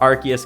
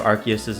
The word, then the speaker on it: Arceus: Aquatic 4, and when you make that swap, Arceus goes, oh, I'm no longer a Fossil, and now you have Aquatic 5 synergy, which doesn't do anything over Aquatic 4.